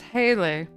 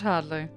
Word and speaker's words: Haley: doing oh Hadley yes my name is Haley not Hadley and I will